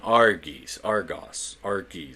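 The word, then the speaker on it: Arges: Their names were Brontes, Steropes, and Argos, literally translated to thunder, lightning, and brightness. And yes, dude, that's exactly how they're pronounced.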